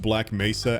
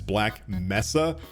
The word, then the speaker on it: Black Mesa: like it and yeah originally the voice actor mispronounced black Mesa as black Messa but thankfully that seems